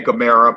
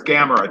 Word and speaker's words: Gamera: Some people say Gamera, but it's Gamera.